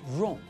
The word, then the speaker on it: wrong: it as we've just seen with the word wrong we don't pronounce the first letter of the word the w is silent and in the same